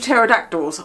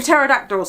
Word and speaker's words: pterodactyl: called pterodactyls anymore, but they have a silent P at the front of pterodactyl.